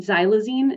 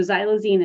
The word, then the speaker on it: xylazine: since the pandemic and xylazine is the way that it's pronounced that X is pronounced as a z so xylazine is a Veterinary sedative